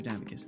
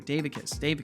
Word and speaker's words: Davicus: I appreciate you, Master Davicus. Thank you for being here. Davicus, not Davicus. That's right. That was the mispronunciation I did originally that I will never do again.